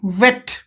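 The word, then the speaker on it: weight: अर्थ उच्चता तापरे एठी देखंतु वे वे ओके वेट एठी वे आई बी एठी साइलेंट होची वे तापरे जी एच को ट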